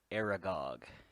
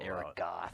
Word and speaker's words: Aragog: Who is Aragog? What? That's spelled wrong. They're stupid. It's not Aragoth. Aragoth.